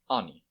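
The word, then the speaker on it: ანი: this is the letter Ani it's pronounced just like the a in Father it can be found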